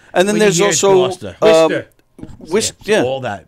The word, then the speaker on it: Worcester: Wister, yeah. All that. Say it again. From Wister. Right, and that's spelled Worcester or something.